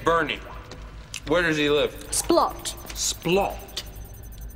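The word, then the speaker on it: Splott: Splot. Splot? I believe estate agents pronounce it splow.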